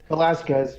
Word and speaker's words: Velasquez: So did I pronounce your name right? Your last name right? Velasquez, yeah.